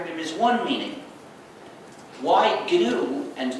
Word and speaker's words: GNU: Please pronounce it GNU with a hard G. Because if you don't, you'll get people confused. If you say, I'm using the new operating system, that's already a mistake.